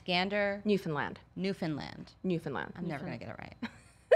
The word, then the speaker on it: Gander: It's Gander.